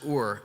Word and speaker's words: ur: That Hebrew word is ur. It's pronounced ur, and it means to stir up or incite or rouse from sleep.